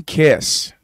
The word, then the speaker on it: Kis: on Rob balza versus Tim kiss the kiss of death it's spelled k-i-s so this is probably